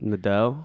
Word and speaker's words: Nadeau: I'm not even going to attempt to say Nadia? it. Nadeau. Nadeau. Yeah. I think Nadeau. Nadeau. Yeah, Nadeau. like Trudeau, only Nadeau.